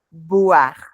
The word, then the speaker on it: boire: para boire, son solo los labios superior, el labio superior y el labio inferior se tocan para hacer el sonido. Entonces, voir, boire. Es súper importante porque si quiero decir que veo, no puedo pronunciar que bebo, ¿no?